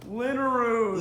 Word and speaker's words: Linneruth: Linneruth, no one can pronounce that. It's made up Swedish, so it doesn't matter.